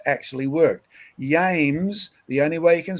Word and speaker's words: James: could have the king james version but if you try and say yames i mean one reason